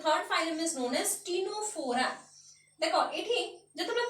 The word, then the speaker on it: Ctenophora: And this is known as the third phylum is known as टिनोफोरा. देखो एठी जतबे pronounce करूची मु टिनोफोरा कहूची Tame the letter C is silent here.